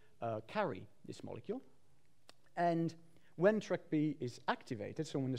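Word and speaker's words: TrkB: it's not my fault the pronunciation is track b no need for mr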